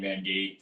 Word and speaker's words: Van Gate: up with a number it rhymes with my name k mangate 38 uh so i